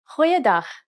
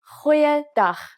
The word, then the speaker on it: Goeiedag: G. Try pronouncing it from the back of your throat. Goeiedag, goeiedag, ek is Anne-Marie Luck.